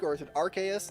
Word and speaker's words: Arceus: it too much and you'll be good I pronounce it Arceus I assume that's Ark as in like uh